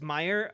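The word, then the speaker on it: Meijer: and help each other it's Meer oh well then they shouldn't spell it with an L in there and a j what are they thinking there is no l oh well I just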